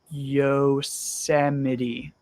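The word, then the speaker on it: Yosemite: so Yos is a place in California it's pronounced y Yos yosity it's the place with all the really big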